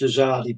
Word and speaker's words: Azadi: The Azadi Monument may be pronounced Azadi, but I think it's a short A, so I think it's Azadi Monument is located in which Middle Eastern country?